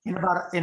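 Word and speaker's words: 爱: top love is i it's pronounced i as in or i me um a i a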